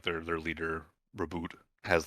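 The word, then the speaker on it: Roboute: It's canonically, as far as I know, it's Reboot Gulliman. Roboot Gulliman?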